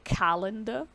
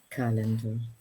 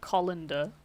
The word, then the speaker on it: calendar: so with this word make sure you're pronouncing the a calendar calendar um when you first said it ludmilla it sounded like you said colander um let me just